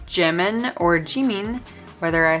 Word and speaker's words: Jimin: go back and forth between Jimin and Jimin, because Jimin is actually more the proper Korean pronunciation, even though I'm probably still not quite saying it right, than Jimin. Jimin is definitely the Americanized, Romanized, bastardized version of his name.